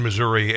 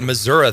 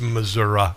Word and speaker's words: Missouri: And as a man who pronounces it Missouri, they would have every reason to throw you out, you dirty red leg. It's Missouri. It is Missouri.